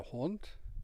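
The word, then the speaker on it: Hund: they say man the hunt is the dog the cognate is hound the final d is pronounced very much like a t and the u is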